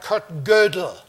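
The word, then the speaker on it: Kurt Gödel: question of Kurt about cut girdle and that's the pronunciation by the way he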